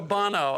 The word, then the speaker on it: Bono: I don't know if it's Sonny Bono or Bono. It's Bono.